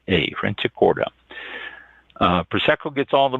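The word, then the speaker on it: Franciacorta: c i a c o r t a franic corta uh prco gets all the buzz but look for the sparkling wine from Fran Corda it's a northern Italian region of that name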